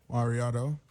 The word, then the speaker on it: MauriOtto: checking for him so your name is what Mariano Mariano is in the building man right here